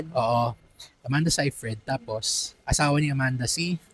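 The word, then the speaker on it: Seyfried: Say Fred tapos asawa ni Amanda si Brandon Clenar Brandon.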